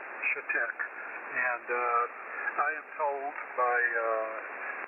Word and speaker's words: Chetek: It is pronounced Chetek. Chetek.